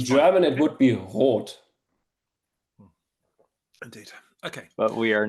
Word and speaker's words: Roth: I would actually prefer if you all say Roth as long as I'm in English context.